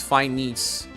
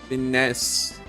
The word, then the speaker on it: finesse: And in this case, it's a trap, because you think fine will sound similarly, and then you think it's fine knees. Fine knees. No, it's not. It's finesse.